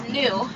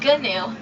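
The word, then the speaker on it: gnu: are also known as New after snic spelled g on commonly mispronounced G new but the G is actually silent that's a termite Mountain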